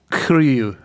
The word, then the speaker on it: Curieux: So this is the Curieux from Allagash, and I know I'm saying that wrong. John, can you give me the French pronunciation on this one? No, I can't. Curieux.